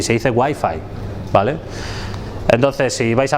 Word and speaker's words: Wi-Fi: Wi-Fi no se dice Wi-Fi, se dice Wi-Fi, ¿vale?